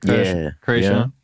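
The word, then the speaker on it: Kreayshawn: And then you were featured on the Krayshawn, is that how you say it? Krayshawn? Yeah.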